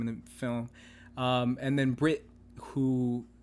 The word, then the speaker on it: Bret: forget his name in the film and then Brit who it's funny it's name is Brett but it's pronounced Brit I'm just gonna call him Brit the entire podcast but with him as well